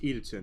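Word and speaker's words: Idaten: Cyber Angel Edaton, which, guys, by the way, it's pronounced Edaton.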